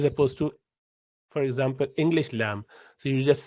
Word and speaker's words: ل: Then comes the tip of the tongue, which goes up top, and you pronounce letter lam, easy.